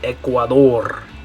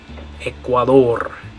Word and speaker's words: Ecuador: In English, we'd say Ecuador. In Spanish, we're going to say Ecuador. Ecuador. Ecuador. Because of those vowel sounds, that's why it sounds different. Even though it's spelled exactly the same in English.